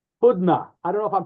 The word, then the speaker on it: Hudna: Hudna. I don't know if I'm pronouncing this correctly. Hudna. Yeah. Hudna.